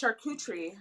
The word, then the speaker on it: charcuterie: So we got, So it's French, first of all, the name, right? it is French. So it's Hmm. pronounced charcuterie.